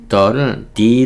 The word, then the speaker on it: the: " 아이비 " 는 모음 으로 시작 하기 때문 에 "thee" 라고 발음 하는 것 이 좋습니다 .